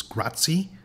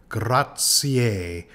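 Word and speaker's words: grazie: someone gratier and uh many people uh who don't know much about Italian will pronounce this gratzi uh but it in fact has an extra syllable graier graier the letter Z is usually pronounced like TS graier graier so the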